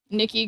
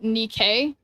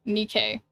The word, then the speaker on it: NIKKE: Um, it's pronounced Nikke. Oh, okay. Nikke.